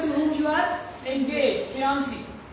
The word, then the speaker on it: fiancé: Fiancé. Not fancy.